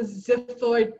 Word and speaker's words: xiphoid: And the little pointy part down below is known as the xiphoid process of the sternum. It has a Z sound, but it's spelled with an XI.